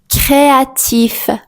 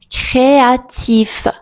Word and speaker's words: créatif: Si le me finit par les lettres C, R, L ou F, on prononce normalement la consonne finale.